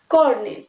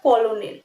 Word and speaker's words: colonel: First ওয়ান, কর্নেল, COLONEL। দেখে মনে হচ্ছে কলোনেল, কিন্তু এটা কলোনেল নয়, ইট উইল বি কর্নেল।